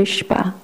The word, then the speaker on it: 예시바: 유대인 최초에 토라 학교인 시바라 그러거든요 발음이 좀 쉽지 않죠 그래서 우리는 이거를 토라 학교라 그래요 예시바 예이 최초의 시바를 세웠는데 아이 모든